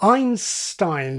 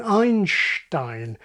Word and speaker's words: Einstein: This can give you Paris, like parish and Harris, Cuba, like cube, or San Pedro, like cathedral, or Einstein rather than Einstein, and on and on and on.